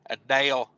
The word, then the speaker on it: Adele: Buck Brown says Adele rhymes with hell, bud. Adele.